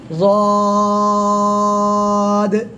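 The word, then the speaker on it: ضاد: ঠিক আছে, মনে করেন এটা জিহ্বার গোড়ার কিনারা, উপরে মাড়ির দাঁতের গোড়ার সঙ্গে লাগাবেন, লাগিয়ে উচ্চারণ করবেন। সিম্পল আপনি মুখ বন্ধ অবস্থায় মনে হয় দেখেন 2 পাশে জিহ্বার গোড়া উপরে মাড়ির সাথে লাগতেছে, ওই অবস্থায় উচ্চারণ করবেন জাদ।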